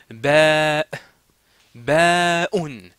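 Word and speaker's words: باء: C'est-à-dire, c'est pas ba, ba. Non, non, non. Ba, baoun. C'est comme ça que ça se prononce.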